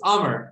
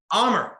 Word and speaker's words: Amr: So it's Amr, like hammer, but without an H. That's the easiest way. Amr, easy.